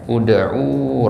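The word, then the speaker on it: ادعوا: Misalkan ya, ud'u rabbakum tadarruan wa khufyah. Ud'u. Ya. Kenapa di sini dibaca u? Ya, karena ainnya ini harokatnya u juga.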